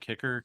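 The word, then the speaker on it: K7CKER: was I'm just gonna pronounce it Kicker K7 CKER. Yeah, Kicker. Yep, that's Kicker.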